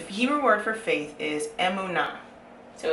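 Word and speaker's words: אמונה: So the Hebrew word for faith is emunah. So it's spelled like this.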